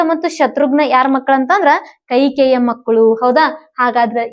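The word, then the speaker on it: ಕೈಕೇಯಿ: ಎರಡನೆದಕ್ಕೆ ಕೌಶಲ್ಯ ಮೂರನೆದಕ್ಕೆ ಯಾರು ಕೈಕೆ ಕೈಕೆಯಿ ಅಂತಹೇಳಿ ಬರಿಬಹುದು ನಾವು ಹೌದಾ ಇದರ ರೀತಿ ಏನ್ ಮಾಡ್ತಾರೆ ಅಂದ್ರೆ ಇದ ಉಚ್ಚಾರ ಮಾಡ್ತಾರ ಕೈಕೆಯಿ ಹೌದಾ ಇಲ್ಲಿ ಸೌಮಿತ್ರಿಯ ಮಗ ಯಾರು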